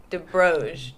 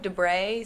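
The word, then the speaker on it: de Broglie: It's Debroge. Debroge. Debray, something like that. But it's not Debroglie. It's French. Yeah, you don't pronounce the Glie at the end.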